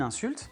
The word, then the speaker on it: insult: Un autre exemple, une insulte, si vous dites une insulte, c'est "an insult". Et si vous voulez utiliser le verbe insulter, c'est "to insult", accent sur la deuxième parce que c'est un verbe.